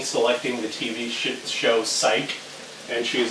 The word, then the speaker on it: Psych: it's like Penny selecting the TV sh show Psych and she's like trying to figure out how to pronounce it and it's like P pwi thewi and then Jacob is like it's pronounced psych and then penny is like yeah I've heard